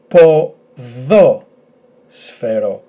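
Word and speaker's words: ποδόσφαιρο: The emphasis on this omicron, so it's at the second syllable. So let's try. It's a long word, I know. Po dho sfero, po dho sfero, po dho sfero, which means football.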